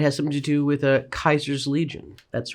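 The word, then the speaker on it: Caesar: Non-spoiler, it has something to do with Kaiser's Legion. That's right, I pronounced it just right.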